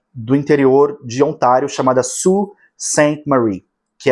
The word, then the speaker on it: Sault Ste. Marie: Vou deixar o nome para vocês saberem exatamente como escreve, porque a pronúncia da primeira palavra é diferente do que e tá escrito.